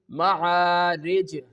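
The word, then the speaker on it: معارج: Same like the next one, which is ma'arij, ma'arij. Only we have to perform the qalqalah when we have to stop at this place.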